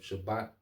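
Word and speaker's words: שַׁבָּת: the Hebrew is um Shabbat all right Shabbat okay um it going to it all right so it's not spelled like shabbath all right like the Sabbath but the Shabbat okay um so let's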